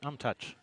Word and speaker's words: Umtuch: I said, how do you say your last name? And he told me Umtuch.